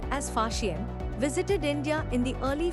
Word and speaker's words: Faxian: Chinese traveler Faxian, pronounced as Faxian, visited India in the early 5th century CE.